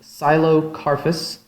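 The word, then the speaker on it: Psilocarphus: by the genus name silo carpus with a silent p at the beginning very small flower is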